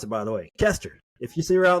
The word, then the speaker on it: Koester: Hey, if you ever see her name, that's how you pronounce it, by the way, Koester. If you see her out in the world, it's Koester.